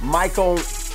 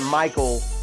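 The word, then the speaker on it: Mykko: let's talk about uh Michael Montana now this isn't Michael like Mike this is Micha it's spelled m y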